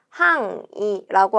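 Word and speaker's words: 範囲: 밑줄에 명사가 있고 요거는 범위라는 뜻을 가지고 있고 항이라고 하는 음독 발음으로 읽게 됩니다.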